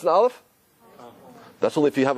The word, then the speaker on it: Aleph: a dog pronounced an Aleph that's only if you have a particle of hummus on dirt listen how I pronounce an alpha did you hear it there's no sound it's connected with something